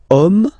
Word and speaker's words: homme: Okay, and then here we've got the word homme, man. Okay, but then it starts with H, as in French, H is not pronounced, so the first sound that we hear is O.